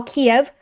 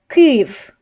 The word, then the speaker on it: Kyiv: Now in English, it is more politically correct to call Kiev Kyiv. Kyiv, if you can hand, Kyiv is the Ukrainian pronunciation. Now all the news stations and everything are saying Kyiv, which is based on the original Ukrainian Kyiv.